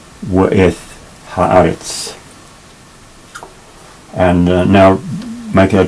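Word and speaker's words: ואת: In modern Hebrew, this W is pronounced as a V, but in classical Hebrew, it was pronounced as a W. So we'll say W'eth Ha'aretz.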